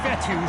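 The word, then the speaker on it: Fetu: is sacked so coach vettel spelled f-e-t-u for the longest time i was pronouncing it coach fetta like feta cheese so let's just say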